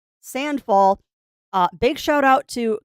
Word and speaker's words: Sandfall: It is not Sandbox, it is Sandfall.